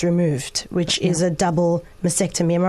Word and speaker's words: mastectomy: And in all of this, you've also had both breasts removed, which is a double mastectomy. Am I right? Am I saying it right? Yes, mastectomy, yeah.